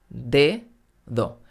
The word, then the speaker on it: dedo: pensar también en la palabra dedo de do la primera de ésta al principio de la palabra y por eso se pronuncia fuerte de pero la segunda está entre vocales y por eso se pronuncia flojita dedo gavà lady gaga en